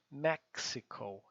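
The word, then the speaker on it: Mexican: é do México né Mas lembre que o x em inglês lembra daquele filme x-men né x pronunciar ex tá mesma coisa o x em inglês vai ter sempre esse som maxical e não México tá então desses Miguel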